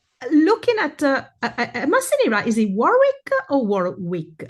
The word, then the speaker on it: Warwick: No, I I say this because we call it Warick in the UK, the the double silent, but